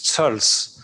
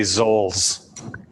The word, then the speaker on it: Zoells: well that's tricky it's it's a german name and originally it's o within umlaut so in german it's surls but here we say zolls i'm going to say